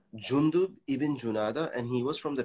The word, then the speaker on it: Jundub ibn Junada: It's a little bit difficult to pronounce. Jundub ibn Junada, and he was from the tribe of al-Ghifar.